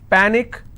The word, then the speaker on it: panic: one syllable so let's break this Panic is PA Nick which means I will stress on PA and it's pronounced at panic tragic tragic I will